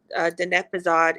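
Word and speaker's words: Diné Bizaad: And I mean, us speaking our tribal language, Denepazad is how you say our tribal language.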